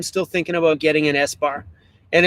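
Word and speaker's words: ESBAR: Yes, I am still thinking about getting an S-bar, and it's spelled E-S-B-A-R, S-bar. I think that's right, something like that.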